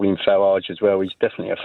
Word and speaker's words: Farage: says can you please stop calling them the farage riots it makes me so angry it's pronounced farage you make an excellent point Christian my apologies